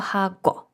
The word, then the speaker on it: 하고: Ми не пишемо хагу буквально ми говоримо хагу, адже пишемо хаго.